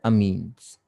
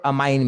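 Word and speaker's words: amine: This is known as अमीन्स। कुछ लोग अमाइन भी बोलते हैं, बट स्पेलिंग में कोई कंफ्यूजन नहीं होना चाहिए। अमीन्स है या अमाइन है, जो आपको बोलना आप बोल सकते हैं।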